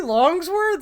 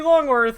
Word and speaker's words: Longworth: And yeah, if you go to the wiki, it's it's Toby Longworth. I said his name wrong.